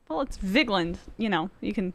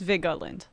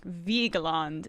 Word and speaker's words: Vigeland: It's Vigeland, but it's Vigeland. Right? All right. Well, we should start doing my last name property, which is Lech. Is it? Yeah, that's my grandpa's like the only one who pronounces it right. I'm not saying it correctly, though, Matt. Like, I have relatives that say it like Vigeland, and apparently that's correct, but I cannot bring myself to take myself seriously and say it like that.